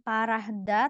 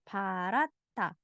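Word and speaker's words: 파랗다: Jadi bukan parahda, tapi parata.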